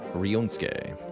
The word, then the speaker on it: Ryunosuke: Rionsuke. Okay, thank you for the pronunciation assist, Sirius. I am not a Japanese name expert. Rionsuke.